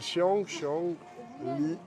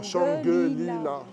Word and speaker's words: Shangri-La: Attendez, est-ce que vous voyez comment ça s'écrit en caractère chinois? Ça s'appelle Shang-Li. Non, Shangri-La.